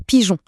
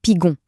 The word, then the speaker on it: pigeon: Pareil pour pigeon, ça donnerait pigon.